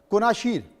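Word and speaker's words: Kunashir: दरअसल दिलचस्प बात यह है कि इन द्वीपों के नाम स्थानीय एनु जनजाति की भाषा से निकलते हैं। जिसके कारण रूसी और जापानी दोनों भाषाओं में इनका उच्चारण लगभग एक जैसा है। जैसे इतिफ और इतिफ मतलब एक में पा आ रहा है और एक में फ आ रहा है। कुनाशीर कुनाशीरी कुनाशीरी जापानी और कुनाशीर रूस के।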